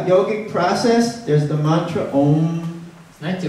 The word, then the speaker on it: Om: And so we see it as one syllable, so we think it is that's a word, Om.